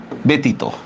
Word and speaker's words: ব্যতীত: যেমন দেখেন আমি শব্দটা লিখলাম কি? ব্যতীত বলি না ব্যতীত? বলেন তো এটা দেখেন তো, জফলার পরে উচ্চারণের মধ্যে জফলার পরে আমরা কি পাইছি? দীর্ঘই পাইছি না? তাহলে এটার উচ্চারণটা কিভাবে হবে? ব একার বে তরস্কার তি তয় ওকার, ব্যতীত, ঠিক না?